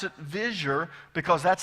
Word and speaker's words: vizier: that right and you've probably heard it as vizier most people in oklahoma do it that way but i'm going to pronounce it visure because that's how the professors at jbu pronounced